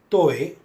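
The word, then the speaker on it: طاء: In order to pronounce toe, we need to flatten the frontal tongue and press lightly just before the upper inner line of the frontal teeth.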